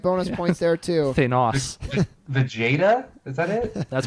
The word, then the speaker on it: Thanos: And you didn't pronounce his name Vegeta, so like bonus points there too. Thanos.